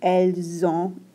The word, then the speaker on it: elles ont: This T isn't pronounced at all, and then the N is nasalized.